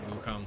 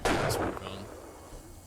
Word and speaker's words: Wukong: it's the English translation I assume you just put more emphasis on Kong because it's wuk Kong because it's the English all right you're the only person you're the only person I've ever heard pronounce it with the heavy emphasis on the second half with the inflection on